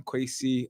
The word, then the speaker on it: Kweisi: quy qu quy quy rhymes with Tracy okay gotta you always add that Z in there I'm like but now I am quacy uh the poet brand